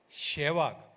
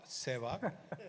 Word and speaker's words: Sehwag: The pronunciation was always Shehwag, not Sehwag.